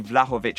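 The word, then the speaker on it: Vlahović: It is going to be Vlahovic, I believe is how you pronounce it.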